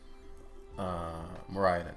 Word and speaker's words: Miraidon: So let me make sure that I'm pronouncing that right, because actually, again, I watched a Blunder video. Miraidon, yes, okay.